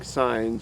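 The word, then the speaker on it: scion: going to be using this is called a sign knife uh because we're going to be placing signs in the trees that's spelled s c i o n craft wood or sign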